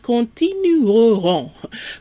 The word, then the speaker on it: continueront: A little note here, we have continuer, to continue in the future, and the pronunciation is continueront.